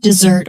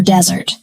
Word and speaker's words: dessert: Of course, she wanted dessert. Sweet cake, not a hot desert. Let's practice carefully. Dessert. Dessert. Dessert. Now, desert. Totally different.